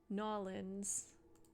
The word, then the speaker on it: New Orleans: Um, I haven't had gumbo before, even though I went to New Orleans or Norins as the locals say.